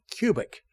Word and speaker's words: Kubik: Is it Kubik or Cubic? She said Cubic. Unless you're in Germany, then it's Kubitz or Kubik.